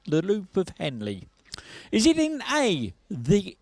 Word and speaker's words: Henle: now the loop of Henley is in which organ of the human body I think that's pronounced right h e n l e the loop of Henley is it in a